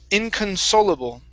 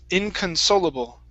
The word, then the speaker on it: inconsolable: right very good um this word here is pronounced inconsolable inconsolable inconsolable okay very good um here we have